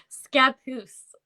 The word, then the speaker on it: Scappoose: Scappoose.